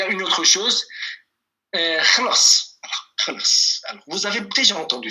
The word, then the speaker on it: خلاص: Par exemple, si vous dites Kaka Jan, Bez Ahmed Chayek, on a dit Kaka, Khalas, Chay Khalas. Le thé est fini. Ok? Vous allez l'entendre. Donc, Khalas, la prononciation, ça serait. Khalas.